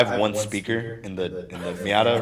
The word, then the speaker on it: Miata: you say car's name because i don't know miata okay apparently those are like pretty popular cars